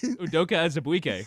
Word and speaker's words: Udoka Azubuike: How do you pronounce it, Chris? Udoka Azubuike.